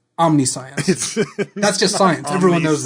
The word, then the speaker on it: Omniscience: Omniscience. No, it's omniscience. That's just science. Everyone knows that. I've said the card hundreds of times. Of course it's omniscience.